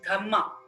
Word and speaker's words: Dhamma: ashoka's dhma in Pali in Pali language dharm is pronounced as dhma d h MMA a so through his